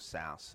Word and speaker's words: Sass: And that is that there are actually two different types of SAS syntax. There is SAS that is spelled S-A-S-S, and then there's SAS that's spelled S-C-S-S.